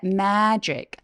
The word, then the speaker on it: magic: them이라고 소리 내셔도 좋아요 그리고 Magic beans 살 때 Magic 매소리 Apple 할 때처럼에 소리 더 길게 벌려 주시고요 매직 매직이 아니라